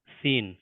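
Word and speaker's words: سين: letter আজকে আমরা শিখবো সিন সিন উচ্চারিত হবে জীবের টিপটা নিচের দাঁতের পিছনে টাচ করবে সিন সিন তার পরবর্তী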